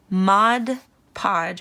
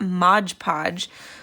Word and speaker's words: Mod Podge: just brushing some mod mod podge it's actually not Modge Podge um how I have been pronouncing it basically forever it's Mod Podge um so it's news